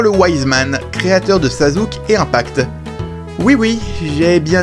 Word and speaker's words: Sasuke: Et oui, je sais que ça se prononce Sasuke.